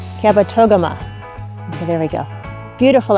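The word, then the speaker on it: Kabetogama: She said, "You have to pronounce the toga in there." Kabat toama.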